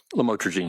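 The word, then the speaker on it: lamotrigine: lamel otherwise known as lamatroine. Did I pronounce that right? Lamotraine. Yes.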